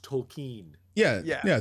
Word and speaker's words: Tolkien: like if you say token oh yeah jr token do you hear the l yeah but apparently we've been saying it wrong it's actually supposed to be pronounced tolkien yeah yeah yeah tolkien but no one says